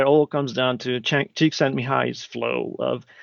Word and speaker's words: Csikszentmihalyi: Yes, so if I can claim any fame, I can pronounce Csikszentmihalyi and spell it.